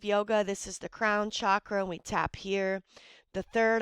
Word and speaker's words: chakra: in yoga we call chakras and the Ancients the correct pronunciation is chakra all right but we Americans say Shakra whatever you want to